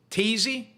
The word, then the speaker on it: Thessi: Thessi is not, it's not TH, it's Tazy, which rhymes with daisy.